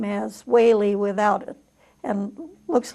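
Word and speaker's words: Whealey: It's pronounced Whaley, like President Reagan pronounced his name, E-A as a long A.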